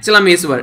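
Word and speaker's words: Chelameswar: Rohinton F Nariman और justice चलमेश्वर कई सारी प्रोनाउंसिएशन ना मैं ऐसे कर देता हूं, ठीक है, तो जस्टिस ये है चलमेश्वर, ठीक है, तो इनका भी नाम आप लोग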